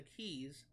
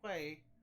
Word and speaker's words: quay: creating the qu the keys that's actually a word that I mispronounced for a long time but quu a y contrary to a popular misconception it's not pronounced Quay it's pronounced key believe it or not